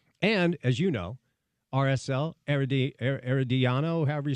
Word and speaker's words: Herediano: And, as you know, RSL, Herediano, however you say it, CONCACAF Champions League, RSL actually starts today. Yeah. Herediano, that's how you say it.